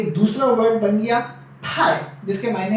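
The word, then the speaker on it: 太: आज का हमारा तीसरा वर्ड हो गया जिसकी प्रोनाउंसिएशन है थाई थाई, और जिसके मायने हैं आप कह सकते हैं कि एक्सेसिव के, टू मच के, राइट।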